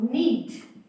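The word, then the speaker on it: know: साथ के साथ में कि एन से पहले यदि के आता है तो वो हमेशा साइलेंट रहता है। उसी का एग्जांपल के एन ओ डब्ल्यू, तो हम इसको साइलेंट रख के नो बोलते हैं, ठीक है।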